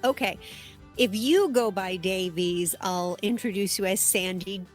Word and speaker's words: Davies: So, I go by Davies, but if you're actually back in Wales, Davies, even with the E, is Davis. So, I go by either. Oh, that's that's fascinating. Well, okay. If you go by Davies, I'll introduce you as Sandy Davies.